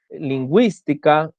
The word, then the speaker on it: lingüística: Cuando la U debe ser pronunciada en las sílabas we, wi, por ejemplo, tenemos pingüino, paragüero, guiro, lengüetazo, lingüística, monolingüe, que es cuando